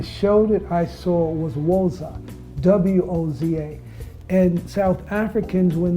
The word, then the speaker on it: Voza: My name is Voza, V for V-O-Z-A. The show that I saw was Voza, W-O-Z-A.